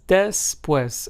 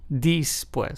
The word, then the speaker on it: después: después, which means after in Spanish, is pronounced as después and not después.